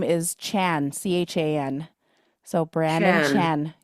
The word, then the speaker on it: Chan: yeah, Brandon's middle name is Chan, Chan. So Brandon Chan. Chan. Yeah. Oh wow. Yeah, one syllable. Yep, one syllable.